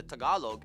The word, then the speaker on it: Tagalog: Of these groups, the largest ones are the Tagalog at about 28%.